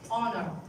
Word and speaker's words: honor: We never say honor. It's honor. Hour. So H is silent.